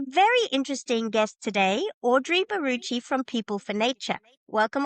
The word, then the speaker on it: Barucchi: It's Baruchi and we were trying to sort out how to pronounce my last name.